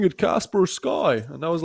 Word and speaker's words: Kaspersky: Okay, 2 people tell me it's Kaspersky. 1 person told me, hey bro, why are you not pronouncing it Casper Sky?